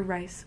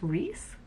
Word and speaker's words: Rice: The next book that I read was Tarzan of the Apes by Edgar Rice Burroughs. Also, who names like a middle name Rice? Is it supposed to be pronounced Reese?